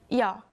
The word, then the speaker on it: 여: The next character is this, 여. Listen carefully to the pronunciation. 여, This sound has a lot in common with the last character sound, doesn't it? The only difference is the Y sound in 여.